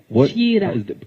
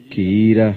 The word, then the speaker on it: Kiira: Kiira. Did I say it right? Well done. Kiira.